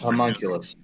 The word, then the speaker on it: homunculus: Yeah, homunculus. Yeah, is that how you say it? Yeah, whatever Yeah, the it's homunculus.